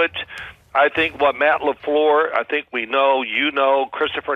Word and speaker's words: LaFleur: Is that how you say it? Say it again. Matt LaFleur. It's LaFleur. Oh, I like that. I like the other way. A little Pepe Le Pew. LaFleur. Remember Pepe Le Pew?